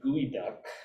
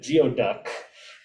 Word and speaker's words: geoduck: is the etymology of gooey duck uh and uh someone from the eastern hemisphere where these guys don't exist uh i've always when i first encountered the term i pronounced it geoduck uh so i'm just